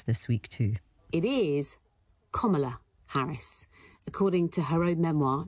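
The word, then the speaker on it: Kamala Harris: week too it is KLA Harris according to her own Memoir in 2019 uh KLA Harry says it's like the punctuation mark comma comma KLA Harris okay so that is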